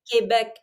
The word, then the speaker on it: Quebec: it um that's quebec first of all quebec that's how you say it quebec pick a language quebec